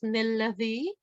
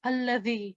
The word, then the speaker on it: الذي: But in this case, as you can see, this will not be pronounced as nilladhi because that's wrong. It will be pronounced alladhi. So we will drop the noon because it's actually, we are doing waqf here.